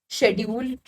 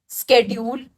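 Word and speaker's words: schedule: Even if we look at the usage of English, पहले हम बोलते थे शेड्यूल, अब हम क्या बोलते हैं, स्केड्यूल। स्पेलिंग सेम ही है, ये ब्रिटिश इंग्लिश अमेरिकन इंग्लिश में कन्वर्ट होती जा रही है।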